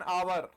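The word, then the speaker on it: hour: में हां भैया इन सब में एच साइलेंट है हां जी इनमें में एच साइलेंट है। शुरुआत तो एच से हो रही है। लेकिन एच तो साइलेंट है। हमें हां भैया एच क्या है? साइलेंट है। तो इसका साउंड कौन सा आ रहा है?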